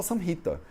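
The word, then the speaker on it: saṃhitā: um professor indiano e ele vai falar samhita. Aí você vai falar, porra, esse professor aí não sabe sânscrito, né? E você vai corrigir, professor, com licença, o senhor não pronunciou a última vogal de maneira adequada. É porque na prática é assim que a gente faz aqui na Índia, entendeu?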